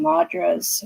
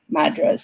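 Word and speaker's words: mudras: I'm also going to start working on a class teaching madras, or madras, some depends on who you talk to, is how you pronounce it, which is basically how to work with the energy that's in your hands.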